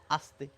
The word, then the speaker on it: আস্তে: এটিকেও বলি আস্তে। কিন্তু তা একেবারেই নয়। এই স এর উচ্চারণ হচ্ছে দন্তস এর মত অর্থাৎ ইংরেজিতে বললে এস এর মত আস্তে আস্তে আর এই